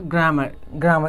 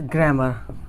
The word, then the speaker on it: grammar: इट्स नॉट ग्रामर, right. तो आज के बाद इसे क्या करना है, प्रोनाउंसिएशन को अपने ठीक करना है और इसे ग्रामर पढ़ना है, नॉट ग्रामर पढ़ना है।